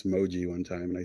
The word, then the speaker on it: Mojee: So, somebody actually asked me how to pronounce Moji one time and I said Mo Jeep without the P.